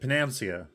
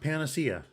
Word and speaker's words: panacea: to pronounce panacea because the whole time i was pronouncing it penancia but it's pronounced panacea maybe we can get